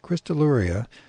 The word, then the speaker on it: Crystalluria: Crystalluria, whatever that means, pronouncing the double L the Spanish way, though that is incorrect.